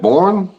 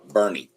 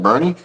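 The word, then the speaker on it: Boerne: Is it Borne? Bernie. Bernie. What? Yeah. North of San Antonio. Burn. That's how you pronounce it. Bernie.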